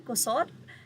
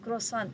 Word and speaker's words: croissant: Ayon pa nga sa kasama nila, ang hirap palang banggitin yan, kusot. Ngayon, sabi ni Katrina, hindi kusot, croissant.